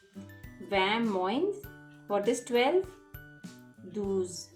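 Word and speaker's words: vingt: is 20 in french where v-i-n-g-t gt is silent vam moines what is 12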